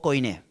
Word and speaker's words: koiné: en griego kiní o koiné. Digo koiné porque mayormente en los libros de teología o algún profesor de griego enseña de esa manera. Pero en realidad se pronuncia kiní, que significa el griego